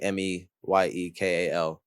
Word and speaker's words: Meyekal: My name is spelt artistically Meyekal, as opposed to the traditional spelling of Michael for the I in the middle there.